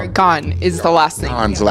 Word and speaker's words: Gane: Um, Gan is the last name.